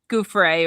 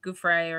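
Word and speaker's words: Giuffre: Yeah, Guthrie, Gouffre or something.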